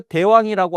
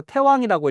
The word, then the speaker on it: 태왕: 석자의 태왕이 호색하사 태왕이 아, 요거 대왕이라고 하지 않고 태왕이라고 읽어요.